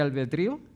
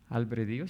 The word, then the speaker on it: albedrío: ¿Han escuchado del del libre albedrío? Albredío se escribe así. Ah. Albedrío. Sí, sí.